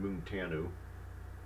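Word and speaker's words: Munteanu: check that again yeah florian moon tan who mu nte a in you and i actually figured out that i actually found out the pronunciation like going to a romanian news broadcast and disliked it here or a native speakers say it and then also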